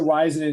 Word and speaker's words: Waisanen: Heather the Superstar um because it's easier to pronounce but Heather how how do folks say your last name it is wisen in Heather weisen is going to ride shotgun with me today